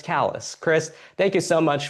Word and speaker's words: Kallas: My name is spelled uh spelled like Christ but pronounced Christ and then my last name is like Dallas but it starts with a K.